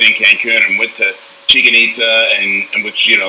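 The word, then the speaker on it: Chichen Itza: Cancun and went to Chicken-itza, and which, they tell you to call it chicken pizza, so you know how to say it.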